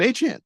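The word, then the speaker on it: Achane: I went to the guy himself, just looked him up on YouTube, and someone asked him, how do you pronounce your name? He said Devon Achan. So A-Chan. Yeah. A-Chan.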